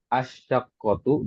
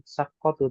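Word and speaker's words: الشقة: Jadi bacanya itu dimasukkan tanwin dulu fi ayyi daurin asyaqqatu gitu ya. Dan jangan lupa di situ kan ada alif lam ya kan. Dibaca alifnya bukan fi ayyi daurin saqqatu tapi baca juga alif lam asyaqqatu seperti itu ya.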